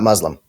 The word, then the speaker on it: Muslim: The same way that it's Muslim, not Muslim. Cameron. Like, people say Muslim, but it's Muslim. That's just how it is.